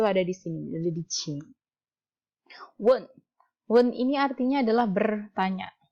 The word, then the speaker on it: 请问: Please itu ada di sini, ada di Qing. Wen. Wen ini artinya adalah bertanya. Jadi Qing Wen. Tolong saya mau tanya gitu. Maksudnya saya boleh nanya nggak gitu. Qing Wen.